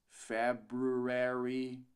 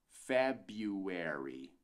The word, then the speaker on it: February: volta pro conteúdo fevereiro não dizemos february mas sim february february february 1 a gente ignora completamente esse BR aqui no meio né vai para